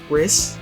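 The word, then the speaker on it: Rhys: cannon that um RZ RIS RIS it's it's spelled RH Ys uh so risk I had Canon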